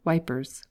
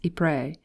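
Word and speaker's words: Ypres: i'm going to pray the tommies call it wipers before i went abroad i had two ambitions among others one was to be able to pronounce e-pre the other was to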